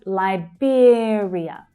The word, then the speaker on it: Liberia: So the first syllable is the I as in by vowel sound. Liberia. So the second syllable is stressed and it has the ear as in here vowel sound. Liberia.